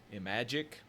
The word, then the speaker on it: Imagic: This is Demon Attack, and I believe the way that the company that developed it is pronounced is Imagic, even though it says Activision up there.